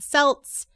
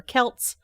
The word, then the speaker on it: Celts: they were interacting with the Celts or Celts however you want to pronounce it who are also interacting